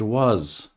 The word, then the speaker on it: was: remember the pronunciation of the verb was is with a z sound was and were tends